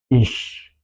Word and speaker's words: ich: Y la regla sería normalmente se pronuncia así. Ich, ich.